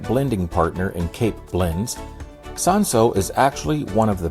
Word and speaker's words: Cinsault: In this video, we are talking about South African sanso, which you will also see spelled without the L, and historically known as hermitage, and it's been grown in South Africa for over a century.